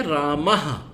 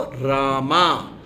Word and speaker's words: राम: उन्होंने इसको बना दिया राम को रामा शब्दों का छो छोटी सी चीज है शब्दों का सही उच्चारण लॉर्ड राम ही बोला जाएगा इंग्लिश में भी लॉर्ड रामा नहीं है लॉर्ड राम रामायना नहीं रामायण तो